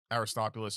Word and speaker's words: Aristobulus: That's how you pronounce it. So there's a man in the city preaching about Aristobulus and how he's going to be the savior,